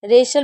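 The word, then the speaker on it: wrestle: जैसे right रीस्ट wrong rap rack रेशल रेशल में T silent है। जब भी एच टी एल ई साथ में होगा तो टी को नहीं पढ़ेंगे।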